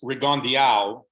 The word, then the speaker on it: Rigondeaux: First of all, it's Rigondeaux is the correct pronunciation of his name.